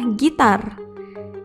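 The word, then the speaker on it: ギター: Contohnya adalah gitar yang ditulis dengan huruf katakana jadi gi, ta, strip, gita.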